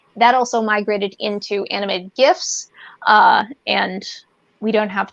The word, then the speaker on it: GIF: famous bit of mine from samurai um what gifs and gifs and gay pegs uh but that's how it's pronounced gif it's gif i don't care what